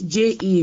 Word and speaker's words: je: two, this J-E in French is not J. I've been correcting this several times. Okay, This cool. J-E here is what? Is je. Je. It's J apostrophe A-I that is called J. So please, let's not make this mistake. This je means I. This je here means I. So it's not J.